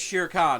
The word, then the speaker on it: Shere Khan: trust me, I know it's Shere Khan.